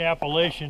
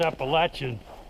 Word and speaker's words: Appalachian: I should say Appalachian Trail. That's the correct pronunciation of it. It ain't Appalachian, it's Appalachian. Well, this is pretty cool right through here.